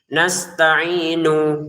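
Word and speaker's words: نَسْتَعِينُ: Itu diperhatikan jangan semuanya na, jangan semuanya ni. Ini nu ini nastainu ya kan.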